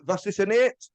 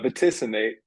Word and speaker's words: Vaticinate: Well, a newish album called, I hope I'm going to pronounce this properly, Vaccinated. Close. You've been like the closest of all my interviews. It's vaticinate. Vaticini.